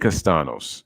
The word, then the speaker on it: Castellanos: castano's oh okay okay so you don't even pronounce the oh you don't even so the l's are silent okay so it's nick castano's okay like i said